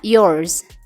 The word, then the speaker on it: yours: punya Anda adalah yours dibacanya yours ingat ya huruf r dibaca samar-samar saja yours adalah kata ganti dalam